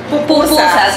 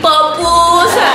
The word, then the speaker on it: pupusas: hacen unas verdaderas pupusas Cómo es que se dicen pupusas no se dicen ver pupusas con u Okay para otra vez que vayan a una Pupusería no vayan a decir popusas Pues sí mis babies